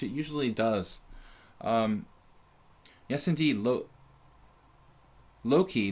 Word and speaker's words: Loki: Loki, not Lokai.